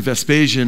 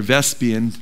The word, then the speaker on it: Vespasian: After Vespasian, or Vespian, people pronounce his name different ways, after he was